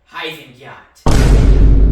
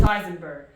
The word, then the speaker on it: Heisenberg: I'm known more so say my name heisen yach it's Heisenberg but as but what we